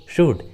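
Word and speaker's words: should: और एग्जाम्पल देखिए, वुड, शुड। देखिए सभी इंग्लिश वर्ड्स में एल, यू के बाद आया है, इसलिए रूल के अनुसार एल का उच्चारण नहीं हुआ है, वुड एंड शुड।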